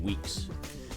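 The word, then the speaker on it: Weaks: It's spelled W-E-A-K-S. That's how he spells his name, Weeks.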